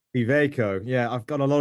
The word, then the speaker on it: Iveco: Mike Cutts, who is the business line director for UK and Ireland for Iveco. I'm not pronouncing that right, am I? Iveco. Iveco.